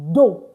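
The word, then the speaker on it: deux: So it's d u d e u x but the x is not pronounced at the end. Take note of that. This x is not pronounced at the end. That's why I said do and not do.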